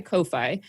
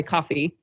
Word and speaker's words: Ko-fi: So basically through my Ko-Fi or my coffee. Sorry, everyone. I do that too. I pronounced it Ko-Fi every time I read it.